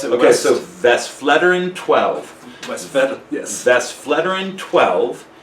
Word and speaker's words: Westvleteren: I don't even know how to pronounce it. Okay, so Westvleteren 12.